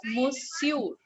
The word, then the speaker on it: monsieur: Monsieur. We pronounce it as monsieur.